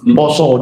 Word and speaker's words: puasa: Yaitu bulannya pasar pasa poso dibacanya. Tetapi di situ ditulis puasa. Ternyata di kedolatan rakyat itu